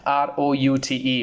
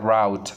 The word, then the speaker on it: route: Many people mispronounce this and they say that route. It's not route when you're guiding someone to reach to so and so destination. So definitely you cannot just simply say you have to go to this route. No, you can say that route, ROUTE. It's the correct pronunciation as route.